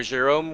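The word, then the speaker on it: Gérôme: Let me spell it out for you. Yes. with Jerome. Wait, with who? Uh, Jerome. So, Jerome with a G E R O M E.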